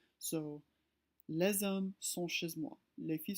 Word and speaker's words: les hommes: We notice that we pronounce the S. The reason why is because the next word starts with an H, which in French is a vowel. So les hommes sont chez moi.